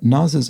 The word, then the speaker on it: Nas: EQ explains, On Naz's album, I Am, he has a song called